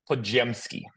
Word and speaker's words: Podziemski: The middle of the name is Gem. Podziemski.